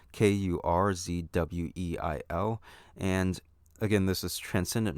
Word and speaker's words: Kurzweil: It's Kurzweil.